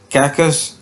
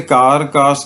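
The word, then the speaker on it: carcass: Mayor the कैकस. अच्छा, इसे कार कास नहीं पढ़ना बेटा, ये जो आर है ये साइलेंट है, इसे आपने पढ़ना है काकस, यानी डेड बॉडी को कहते हैं.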